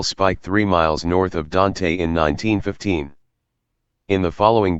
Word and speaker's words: Dante: the ccno had reached dante rhymes with ant virginia a tiny village